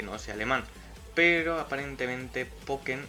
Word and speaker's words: Pokkén: hace alemán pero aparentemente poker se pronuncia igual que la palabra alemana lo que significa viruela